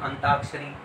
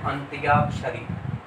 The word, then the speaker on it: अंत्याक्षरी: जाए इसी प्रकार है हम उच्चारण रोते अंताक्षरी सभी बोलते हैं लिंक शुद्ध है अंत्याक्षरी और नंबर चार देख